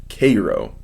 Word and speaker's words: Cairo: chuckle at this line I was headed for Cairo which is pronounced Cairo I don't know why